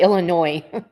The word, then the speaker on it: Illinois: episode, we will be going back to Hadenfield, Illinois. Illinois, however you want to pronounce it. Tomato tomato. No, it's literally Illinois. It is how I pronounce it.